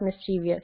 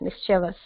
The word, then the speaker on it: mischievous: It's not mischievous, it's mischievous.